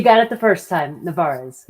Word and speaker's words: Nevarez: Nevarez, give us the proper pronunciation. You got it the first time, Nevarez. Nevarez, I like it.